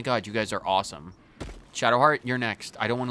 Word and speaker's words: Shadowheart: Don't call her Shart. That's not as hilarious as that is. It's Shadowheart. Say it right or don't say it at all.